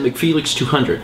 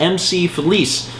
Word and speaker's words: McFelix200: How much do you wanna bet you guys pronounced it McFelix200? Well, that's wrong. It's pronounced MC Felice with a Z.